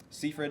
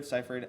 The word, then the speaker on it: Seyfried: her I think she's a phenomenal actress Amanda Seyfried seifried I don't know how to say her name